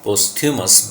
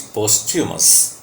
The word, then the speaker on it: posthumous: You must have heard people speak posthumous, but the word has typical pronunciation, that is posthumous.